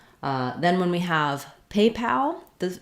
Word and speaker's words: PayPal: the rhythm correct so in the word paypal we have a little stress on both syllables but the main stress is on pay secondary stress on pal so unlike a word like people where we have only the first syllable stressed people pull and then we have that really reduced second syllable we do have a clear vowel and a little stress on pal otherwise it would sound like papal uh that is a